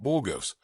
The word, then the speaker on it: Burgos: Judge Middleton is firmly taking control of the courtroom and making his stance very clear today as he talks about Burgos, which is the correct pronunciation.